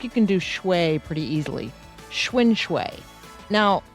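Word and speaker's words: xuan: I am thinking the first part of the word is pronounced like the bicycle. And then uh yeah, I think you can do pretty easily. Schwin.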